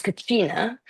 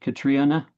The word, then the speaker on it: Catriona: So there's Irish, there's Irish, which is Ciona, and then there's Highland Scots, which is Katrina, and then there's land Scots, which is Katrina. So you're the third Katrina.